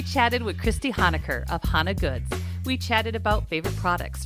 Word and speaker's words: Hona Goods: the business start and that's how do you pronounce it hana goods yeah it's hana good so my last name